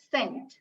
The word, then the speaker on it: scent: This letter C will be pronounced as K when it is followed by letters other than E, I, or Y.